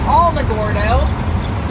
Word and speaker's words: Alamogordo: And we're going to Alamogordo, which is spelled Alamogordo, but it's pronounced Alamogordo.